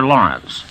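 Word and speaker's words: Laurents: the brave by arthur lawrence the author pronounces his last name like gertrude lawrence or lawrence of arabia but he spells it l-a-u-r-e-n-t-s however he spells it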